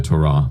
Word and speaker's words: Torah: Torah, not Torah. Yeah, the pronunciation is meant to be Torah, but it's hard to say in an English context.